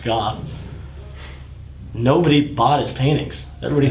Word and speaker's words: Gogh: And I mean, that's what's crazy is Van Gogh, and that's how you say it, not go, it's Goff.